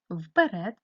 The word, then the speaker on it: вперед: записуємо каліграфічну хвилинку перед коли ми вимовляємо з вами це слово то у транскрипції бачимо що першу звуком чується звук у звук е вимовляється наближено до и ставимо наголос вперед наголос падає на е Тепер нам потрібно порахувати